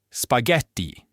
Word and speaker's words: spaghetti: Marco, spago, spaghetti. Note the H in spaghetti is there only to keep the hard G sound.